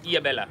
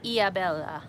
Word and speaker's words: Ilhabela: Hard to pronounce things in Portuguese because you've got to remember the H is a silent letter. It's not Ilhabela, it's Ilhabela. Ilhabela.